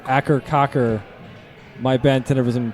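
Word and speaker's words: Akercocke: cur even though they pronounce it a cur Cocker my Ben Tennyson pronounces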